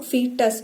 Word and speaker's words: foetus: फीटस हम लिखते हैं FOETUS, बट हेयर ओ हमारा साइलेंट होता है तो इसको हम फीटस बोलते हैं।